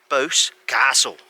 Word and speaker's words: Boscastle: ever heard of and in the cornish way you always emphasize the second syllable of a place's name so it's bose castle or so they say but i just put